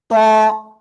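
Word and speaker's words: طاء: মোটা আওয়াজে পড়তে হবে, জিহ্বার আগা উপরের দুই দাঁতের গোড়ায় লাগাবো, সামনের উপরের দুই দাঁতের গোড়ায় লাগিয়ে আমরা উচ্চারণ করব। এই যে এরকম ত, এক আলিফ টান, ত।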